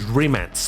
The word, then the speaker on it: Rimac: remix C1 obviously well I should probably say it's remats because that's how you're supposed to pronounce that it's a Croatian last name uh Croatian I think